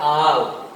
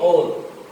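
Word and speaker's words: all: अब आप देखिए ए डबल एल का शुद्ध उच्चारण होता है आल, नो कि ओल।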